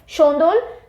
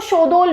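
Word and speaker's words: Shondol: जबरो, छाम, छम या छाम जैसे भी प्रोनाउंस किया जाए, शोंदोल, कई जगह पे इसको शोदोल भी बोला जाता है, SHOUDOL। वैसे सही जो आपको मिलेगा वो शोदोल है।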